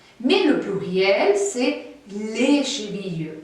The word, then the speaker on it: chevilles: Mais le pluriel, c'est les chevilles. Et toujours, on ne prononce pas le S.